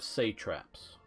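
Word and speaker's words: satrap: this they set up say traps that's the way I was taught to pronounce it in my university schools classes and those were basically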